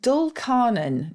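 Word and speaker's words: dulcarnon: feet which I quite like and is that spelled with an F or witch interesting yeah then we have a doll carnan now this is a really strange sounding phrase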